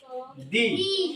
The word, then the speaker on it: the: কোনটার শুরুতে যদি আসে তাহলে সেটার উচ্চারণ হবে দি সেটার উচ্চারণ কি হবে দি আর এই ভাওয়েল ছাড়া